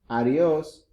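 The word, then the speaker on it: adiós: Notice the accent. It's a little intonation in that O. Adios.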